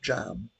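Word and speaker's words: cam: But um that comes that's that's pronounced jam.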